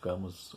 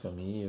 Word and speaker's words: Camus: do livro do Albert Camus, ou Camus, né? Depende de onde está falando, né? Se escreve Albert Camus, mas se lê em francês como Camus.